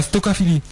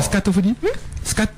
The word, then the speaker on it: scatophilie: La stocophilie. Non, la scatophilie.